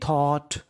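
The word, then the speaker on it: thought: THOUGST, इस पर आपको गौर करना है GST पर। GST को हम लोग इंग्लिश में पढ़ते हैं टा। क्या पढ़ते हैं? टा। यानी आपको इंग्लिश में कहीं पर GST लिखा मिले तो उसको पढ़ना है टा। क्या पढ़ना है? टा। तो मीनिंग बनी THOU, इसे पढ़ेंगे थॉ। क्या पढ़ेंगे? थॉ। GST टा। वी थॉट, वी थॉट।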